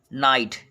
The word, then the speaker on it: knight: अगला देखेंगे, के बाद यन हो तो के साइलेंट होता है। एग्जाम्पल देखें, जैसे नो, KNOW। Knife, KNIFE। निट, KNIT, निट। नो। नाइट, KNIGHT।